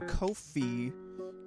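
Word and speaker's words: Ko-fi: Well, you see Luke, you could go to Kofi, which is how they pronounce it.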